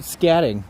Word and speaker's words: Scadding: it is a scatting cabin. Scatting. Scatting with a D. Yeah, Yeah. SCADDING. Like that? Yes.